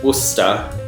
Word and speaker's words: Worcester: like war so worst Oh like no it's Worcester like it spoke W Oh Oh as stepa